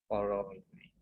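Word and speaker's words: corollary: No, cholerae नहीं बच्चे, लिख कर बता। कॉरॉलरी, अगर आप प्रोनाउंस करोगे तो कॉरॉलरी, बट हम जल्दी जल्दी बोलते कॉलरी। ठीक है, बाकी प्रूफ वाले क्वेश्चन हम नेक्स्ट क्लास में ही करेंगे।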